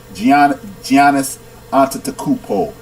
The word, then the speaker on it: Giannis Antetokounmpo: Giannis Antetokounmpo, punk.